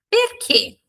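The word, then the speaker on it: perché: Próxima pronúncia importantíssima, C-H-E, tem o som de que, tá? Que. Então, o que é que mesmo, tá? Dentro de uma palavra, perquê. Perquê.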